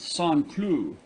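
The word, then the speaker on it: Saint-Cloud: village just outside of saint cloud pronounced song clue it is given up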